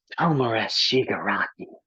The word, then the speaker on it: Tomura Shigaraki: It's pronounced Tomura Shigaraki.